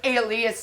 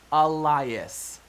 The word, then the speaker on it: Elias: You clearly will never accept me as a maid, and I release you, Mr. Alias, not William. It is pronounced Elias.